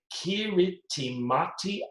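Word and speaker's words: Kiritimati: be the correct answer it is on the kiriti mati at all in kiribati that is spelt t i k-i-r-i-t-i-m a t i interesting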